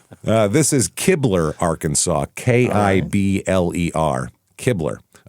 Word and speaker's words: Kibler: looked it up and it says rhymes with rib, like Ribler.